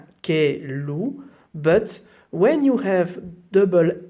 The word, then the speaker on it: caillou: Un caillou, so here normally you should pronounce e, caillou, but when you have double L in French and I just in front, we don't pronounce the look like a E.